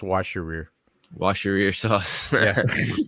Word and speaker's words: Worcestershire: like plain yogurt, vinegar, Worcestershire sauce. Yeah, sauce. Worcestershire. Yeah, Worcestershire sauce. Yep. Not that. Sorry, it had soy sauce in it. I don't know why. It's good. It's pronounced wash your rear.